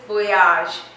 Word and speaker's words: voyage: Bon voyage, it's voyage. It's bon voyage.